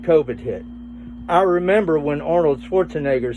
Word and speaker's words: Arnold Schwarzenegger: How do you pronounce his name? Arnold Schwarzenegger.